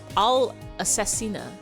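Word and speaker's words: all'assassina: It's not how you pronounce that. Spaghetti all assassin is all assassina.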